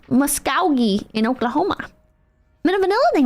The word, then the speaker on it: Muskogee: It's pronounced Muskogee in Oklahoma.